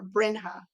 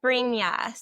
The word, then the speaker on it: Brina: Bring or brinha. It's Brina. So, it's pronounced like Brina like uh with a Y sound because it's a J sound but it has a Y.